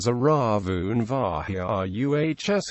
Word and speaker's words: Ravn virus: Note RAVN virus is pronounced Ravn Ravn Vahiruhs in English phonetic notation, according to the rules for taxon naming established by the International Committee on Taxonomy of Viruses.